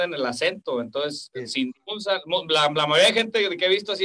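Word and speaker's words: Tzintzuntzan: Ah, es Sinsunzán.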